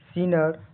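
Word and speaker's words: sneer: उपहास सीनर का एस N double E आर का उच्चारण सीनर यहां डबल ई का उच्चारण बड़ी ई लंबी ई की तरह होता है। आर ब्रिटिश में आर ब्रिटिश में हल्का अमेरिका में साफ बोला जाता है।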